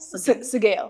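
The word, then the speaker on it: Sgaeyl: Sagail.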